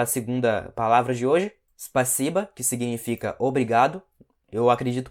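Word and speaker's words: спасибо: Ao invés de falar spasiba, eles falam passiba, simplesmente passiba, tá?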